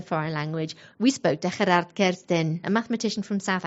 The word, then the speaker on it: Gerard: Hi, my name is Gerard. That's actually how you pronounce it in Afrikaans, even though I tell people here in Catalonia that I'm Gerard.